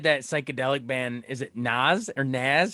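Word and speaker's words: Nazz: know you had that psychedelic band, is it Nas or Naz? How do you pronounce it? The Nas, yeah. Naz.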